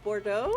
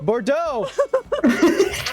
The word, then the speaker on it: Bordeaux: things in a campaign you can't say oh Bordeaux Bordeaux the X confused me for a second borun Bordeaux it's also a bit of a tongue twister